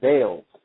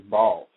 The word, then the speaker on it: Baals: elected mayor um he he pronounced his name Bales. And uh immediately after the show uh Harry actually called in and asked for him and said, "No, my son, my name is Balls."